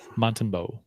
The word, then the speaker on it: Montembeault: Montembeault.